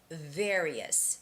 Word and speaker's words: various: Oh, Teiji, the word is various. And of course, it's the V sound, which is the same pronunciation as F, okay? So you see my lips are pulled out to the front.